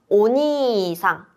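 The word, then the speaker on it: おにいさん: 오니상 길게 발음하는게 중요합니다.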